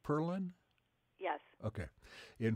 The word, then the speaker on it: Perlin: Is your last name pronounced Perlin?